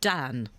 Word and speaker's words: Dann: I'm so sorry I got your name wrong. So it's do it's Dr. Dan.